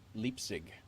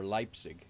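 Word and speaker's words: Leipzig: For Linda Leapig, pronounced leap leapig. Leap zig or leipig.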